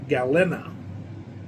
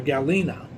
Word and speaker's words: Galena: She was born in Gal I think it's pronounced Gal Gal Galena. Or Galena, g a l e n a, Illinois.